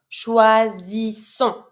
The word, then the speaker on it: choisissons: If you want to say we choose, you're going to have to say nous choisissons. First S is one S between two vowels, Z sound.